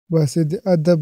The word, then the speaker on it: بصد ادب: ادب درخواست ہے کہ اسے بصد ادب بولا کیجیے، یعنی اضافت کے بغیر ہی یہ درست ہے، چشم زدن نہیں چشم